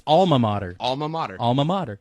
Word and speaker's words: alma mater: ] l in there there's not Al it's alma mater alma mater alma mater it's all so there's